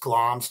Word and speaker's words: Glamis: That's how it's pronounced, Glamis, G-L-A-M-I-S.